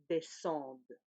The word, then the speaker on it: descendent: Et ici, on commence à prononcer le D. Nous descendons, vous descendez, il, elle descendent.